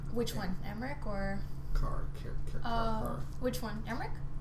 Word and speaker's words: Emmerich: Emmerich, yeah. In the game they say Sir Emmerich. I thought it was Omric, but apparently in the game they say Sir Emmerich.